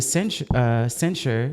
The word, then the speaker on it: censure: He was given a censure.